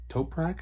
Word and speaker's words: Toprak: uh top uh uh top rack or toprak I believe is how you pronounce her name um uh never heard